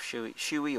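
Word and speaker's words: Shoei: I think it's spelled S-U-O-M-Y, and in the shoe, I've had a number of shoey or showy helmets, whatever it is, however it is you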